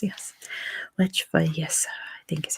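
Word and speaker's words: Lech Wałęsa: If I remember how to pronounce his name, it was Lech Walesa.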